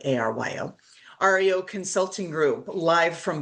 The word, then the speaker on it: Aryo: Justin Abrams, he is the CEO of REO, but it's spelled like ARYO.